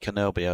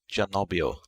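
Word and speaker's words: Cannobio: well it looks like we pronounce it Kenobi or c a double n o b i o but the locals said it's janabio which is on lagio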